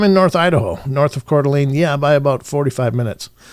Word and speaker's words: Coeur d'Alene: And that's how you That's how you pronounce that is is Coeur d'Alene.